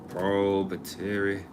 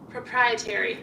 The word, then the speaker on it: proprietary: Propetary. I think that's how you say it. Proprietary.